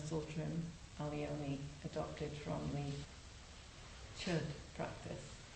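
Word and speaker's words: Chöd: Alioni adopted from the Chud practice. Or Cha practice. Nobody is ever quite satisfied with the pronunciation of that word, but I think it's Cha.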